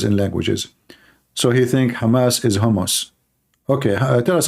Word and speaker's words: Hamas: the hamus hamus terrorist Trump he do not know how to say the word Hamas he called him hamos he just called Hamas